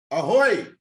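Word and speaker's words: ahoj: they wrote it and now I know how to spell it it's a-h-o-j oh oh I didn't know that I thought it was a a-h-o-y right yeah yeah that's how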